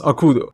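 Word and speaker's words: 悪童: why the kanji that has been reading is pronounced akudo and okudo seems to like commonly refers to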